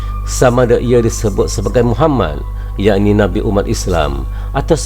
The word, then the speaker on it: Muhammad: English dictionary mendefinisikan bahwa Muhammadin dengan yang dicintai seseorang yang dirindukan seseorang yang terkemuka atau seseorang yang terpuji tersebut Hai pengucapan yang benar untuk seseorang yang terpuji adalah Muhammad dalam bahasa Arab dan ini adalah kata